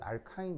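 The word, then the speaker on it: alkyne: 고르시면 되는데 뭐 나는 영어식이 편하기 때문에 난 알카인 이렇게 발음하면 발음하도록 하겠습니다 자이 녀석은 바로 구조 내에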